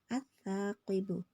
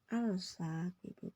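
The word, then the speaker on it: الثاقب: Itu bacanya at-thaqibu. Nih. Bukan al-saqibu, bukan ya.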